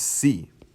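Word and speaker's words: سی: is spelled like this this is sea like the sea just like that pretty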